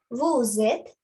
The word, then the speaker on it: vous êtes: Then you have to do the liaison. Then vous êtes. The Z sound.